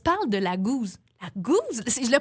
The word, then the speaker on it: Gose: dit on se parle de la Goose la Goose si je le prononce bien la cause exactement on parle de la Goose qui s'écrit